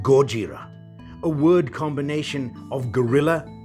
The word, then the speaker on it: Gojira: It's Japanese. The emphasis is on Gojira.